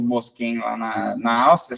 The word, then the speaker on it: Moschen: Tem o Mosquen lá na na Áustria, só que na Áustria eles pronunciam como motion. Ah, porque é mais, não sei se seria alemão, né, a língua que a Áustria fala, mas eles eh eles falam motion e aí na Itália traduzem como mosquem.